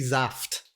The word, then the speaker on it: Saft: The German pronunciation would be Saft.